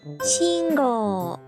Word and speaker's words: 信号: For example, teacher is pronounced sensei and traffic light is pronounced 信号.